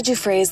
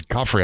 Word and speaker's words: Giuffre: Virginia Giuffre's loved ones are speaking out after Andrew Mountbatten Windsor, I thought it was Guffrey. I've been saying it wrong.